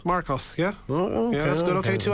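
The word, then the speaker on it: Mrkos: or k o s there's a vowel missing how are you supposed to pronounce that m or k Marcos Marcos yeah that's good okay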